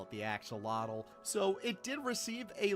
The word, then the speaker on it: axolotl: This is the axolotl, or if you want to pronounce it like the native zoo, axolot.